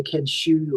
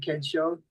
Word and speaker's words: Kensho: Um, they say Ken Shu or Ken Joe for some say my name. But, uh, I'm going to go back to being Kensho.